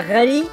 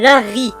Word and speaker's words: Larry: Alors il faut savoir que l'auteur a expliqué que l'héroïne ne s'appelait pas Rally, mais Larry. L'erreur vient du fait que les L et les R se prononcent de la même façon en japonais.